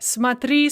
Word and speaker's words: смотри: It's они смотрят, but смотри, смотрите. The stress shifted back to the stress of the infinitive and the ya form.